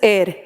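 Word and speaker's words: heir: इसको हेयर नहीं पढ़ोगे, this is एयर, Hindi bubble के according this is एयर। एयर का मतलब होता है वारिस, उत्तराधिकारी, तो एयर का एच इज साइलेंट, इसको ए पढ़ोगे, एयर, ए एन।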